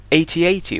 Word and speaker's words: AT-AT: know in defense of the 8080 or at-at I don't mind which pronunciation 8080 seems easier just because I won't say at-te but yes defending the